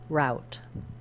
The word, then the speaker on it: route: is to say letters o u as ow As in out route route route have a